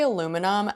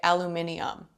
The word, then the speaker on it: aluminium: So, we say aluminum and Australians say aluminium.